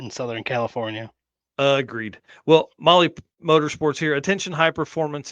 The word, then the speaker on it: Mahle: And for the podcast listeners and everybody else out there, Molly is spelled Mahle when you're doing that search.